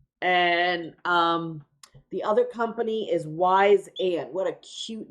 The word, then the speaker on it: Wyzant: And the other company is Wise and. What a cute name. But it's spelled really funky.